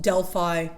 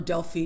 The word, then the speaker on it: Delphi: And one of the places that I have been to that I absolutely loved is called Delphi, or Delphi, depending on how you pronounce it.